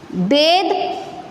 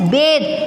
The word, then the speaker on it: bathe: The, as in them, bathe. बाथ अलग होता है, B-A-T-H. वो था होता है, it is bathe.